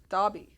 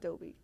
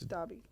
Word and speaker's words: Dobby: Dobby, not Dobby. It's Dobby.